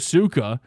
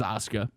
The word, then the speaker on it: Asuka: Right now we have Nia Jax versus Auka. Um, and I know some people are gonna really criticize me for that that pronunciation. Asuka. It is Asuka.